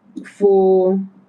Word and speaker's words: forêt: The E changes to air. Forêt.